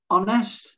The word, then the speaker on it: honest: silent and then finally there's the letter h ghost ghost honest honest our our mechanic mechanic rhythm rhythm scheme scheme school school what what when when where where weather weather wire wire white white and why why okay so there's the